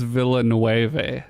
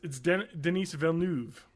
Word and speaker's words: Denis Villeneuve: that pronounce it as Villanueve, so that might be it. Villanueve. No. So anyway, I think it's... Oh, now I know how to do it. It's French. It's Denis Villeneuve. Duh.